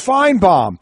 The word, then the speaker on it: Finebaum: are you people doing Finebaum says his name is pronounced fine bomb you don't change the